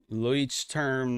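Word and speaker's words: Leuchtturm: Luich term 1917. So there it is. There's my pronunciation.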